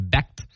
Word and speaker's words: Becht: It's kind of interesting you said that, because that's exactly what quarterback Rocco, I believe it's pronounced Becht, Rocco Becht says about Iowa State.